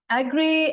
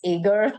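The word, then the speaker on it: Agre: mysterious figure called Phil Agri. I'm still not pronouncing his name right. I do it wrong every time. And I'm like, there's always somebody in the room who's like, actually, it's Agar. And I'm like, Agri, I think it's Phil Agri.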